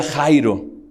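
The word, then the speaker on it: χαῖρε: Pero se pronuncia Jairo, y esa palabra, fíjate lo que dice, esa palabra quiere decir gózate, alégrate, regocíjate.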